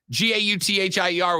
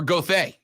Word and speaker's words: Gauthier: colton gothy is it gothier or gauthier so where i come from g-a-u-t-h-i-e-r would be gauthier or gothay but i don't think y'all say it like we say i'd go with the